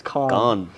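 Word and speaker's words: Cannes: call किया hello buddy it's नॉट कैंस इट्स कान कान करके कुछ ऐसा प्रोनंसिएशन होता है हम वही लोग हैं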